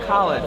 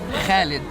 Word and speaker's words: Khalid: It's not Khalid. My name is not pronounced Khalid, it's pronounced Khalid.